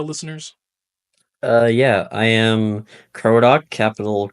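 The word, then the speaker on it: Krodok: to our audio listeners, uh, yeah, I am Cro, capital K R O D O K. You know, it's pronounced the bird crow and the a dock, you know, a ship dock.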